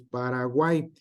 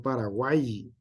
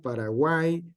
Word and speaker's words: Paraguay: Se pronuncia como I, no Paraguay. ¿Sale? Entonces, aquí está. Entonces, lidiais, que es en el español antiguo, lidieisis, dioico, miau, Paraguay, buey, guau, Cuauhtémoc, Cuautla.